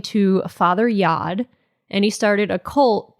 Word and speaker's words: Yod: named himself father yod because yod rhymes with God yes I just realized